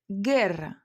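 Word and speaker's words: guerra: Буква у читатися не буде тільки тоді, коли після неї іде іе е. Наприклад, герра- війна, гітара.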